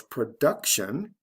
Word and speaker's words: production: and then of course production with this word the stress is right before the t i o n ending the second from the